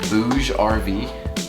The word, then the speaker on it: Bouge: from a company called BougeRV. Pretty funny name, honestly. I think that's how you say it, Bouge, B-O-U-G-E-R-V.